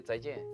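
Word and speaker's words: 再见: In Chinese we say 再见. Yeah. Say it again. 再见.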